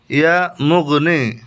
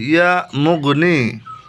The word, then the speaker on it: ইয়া মুগনি: ইয়া মুগনি। আবার বলছি ইয়া মুগনি। আমি যেভাবে পড়ছি এভাবে কিন্তু আপনাকে উচ্চারণ করতে হবে।